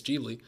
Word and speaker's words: Ghibli: I think so if it's a nod to Ghibli deeply Ghibli how do you say it it's Gigli I'm all for it shanks beautiful-looking shakes man aren't in this reverse comment mr.